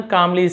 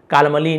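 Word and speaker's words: calmly: द सन कामली said, लड़के ने कामली यानी शांति से, शांत होगा तो यहाँ पे एल साइलेंट है, कालमली नहीं बोलेंगे, कामली, सेड कहा, शांति से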